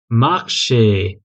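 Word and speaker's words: marché: ठीक है, मार्शे। मार्शे इसका प्रोनाउंसिएशन हमेशा ए आता है, ए प्रॉपर जो हम लोग इंग्लिश में भी बोलते हैं ए, वैसा आएगा मार्शे, ए।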